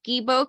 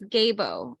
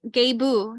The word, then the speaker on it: Gebo: innate talents and generosity even though I said it's gebo because it's spelled g-e-b-o it's gabo gabu that's how you say it gabu for every gift